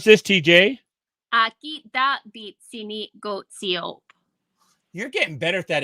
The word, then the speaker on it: Aakitaapitsinikotsio’pa: How do we pronounce this, TJ? Aakitaapitsinikotsio'pa.